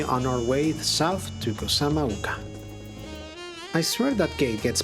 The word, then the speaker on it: Kozama'uka: He pronounced it Kozama'uka.